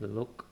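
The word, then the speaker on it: לא: The sound is L, like look or lake. And here is an example, Lo, Lo. We have a L, it has a vowel O with it, Lo. And Aleph, remember, is silent.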